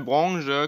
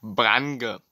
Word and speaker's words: Branche: Die Branche schreibt man Branche, dementsprechend, weil Branche kommt, das Wort kommt aus dem Französischen. Deswegen schreibt man es Branche und nicht Brange.